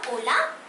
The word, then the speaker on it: hola: cool amigos I said hola amigo is not hola because H is silent so I said hola